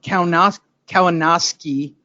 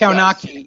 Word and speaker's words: Kownacki: And he went back to the Kownacki butchering, which was phenomenal.